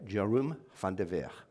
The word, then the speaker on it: Jeroen van der Veer: So I did ask him how his name would be pronounced. I'll give it a go. Jeroen van der Veer.